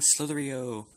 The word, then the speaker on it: slither.io: hello everybody I'm playing slithery Oh slithery oh that's how you say it yeah